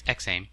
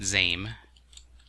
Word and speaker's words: XAIM: It's XAIM. It's definitely XAIM. And not ZAIM, as some would think, but you can pronounce it however you want.